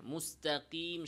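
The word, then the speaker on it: مستقيم: মুস্তাকিম স্বাভাবিকভাবে না বলে মুস্তাকিম, এই মাদের হরফ ইয়া উচ্চারণে জিহ্বাতে অতিরিক্ত চাপ প্রয়োগ করা। কিভাবে বলতে হবে? স্বাভাবিকভাবে মুস্তাকিম বলেন, নাস্তাইন, স্বাভাবিক, জিহ্বাতে আমরা প্রেসার দিব না।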